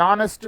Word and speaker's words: honest: An is used before a silent H. For example, an hour, an honest man, an honorable man.